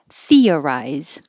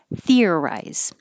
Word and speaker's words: theorize: at all people 46 can be three syllables theorize or two syllables theorize structured and the cha can